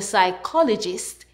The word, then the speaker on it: psychologist: When you see PS in a word, the P is silent. PS says S.